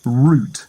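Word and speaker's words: Wroot: to be a nearby Village called root that's spelled w o o t only it said that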